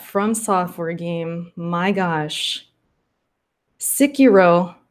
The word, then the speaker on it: Sekiro: My gosh, Sekiro.